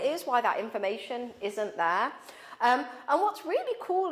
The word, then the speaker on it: ye: Anytime you see a Y and an E, it's a thorn and we pronounce it the.